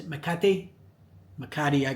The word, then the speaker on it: Makati: Makati, I call it.